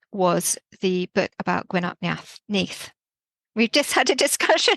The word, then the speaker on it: Nudd: interested in which was the book about GW NE we've just had a discussion about the pronunciation of this because it's spelled nudd yeah